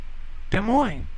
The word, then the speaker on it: Des Moines: not Des Moines demoing Des Moines okay Des Moines Des Moines you both s's are silent demoing you say Des